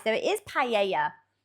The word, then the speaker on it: paella: So yeah, you don't pronounce the double L because it's pronounced a Y. So it is paella like it would be in Spain. That makes sense. British offering of pella isn't.